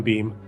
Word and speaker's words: Beme: I'm on Beam. That it's spelled BEME.